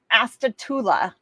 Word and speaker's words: Astatula: Astatula, Florida.